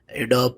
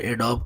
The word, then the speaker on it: Adobe: एडोब premiere एडोब का software है। ठीक है, तो एडोबी भी कहते हैं इसे और एडोब भी कहते हैं। ठीक है, आप जिस तरह प्रोनाउंस कर लें।